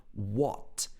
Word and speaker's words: what: my eye on so he uses the very british o sound here what but he doesn't say the t sound he says what what